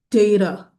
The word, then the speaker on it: data: And the correct way to pronounce it data. Data. So you notice the first part of the word I put a mron on top of the a there to show you that it's a long a sound data.